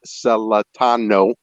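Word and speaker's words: Celentano: anybody on the broadcast listening is pronounced seletano uh it's pretty easy to pronounce and it's pretty easy to repeat the proper pronunciation how are they how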